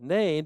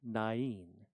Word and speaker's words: Nain: And we call it name because that's what it looks like. You know, rhymes with train and rain and plane.